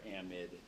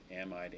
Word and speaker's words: amide: this amide am or amid um both both people I mean both pronunciations are common amide amid I call it amide because it's like chloride bromide Etc and the base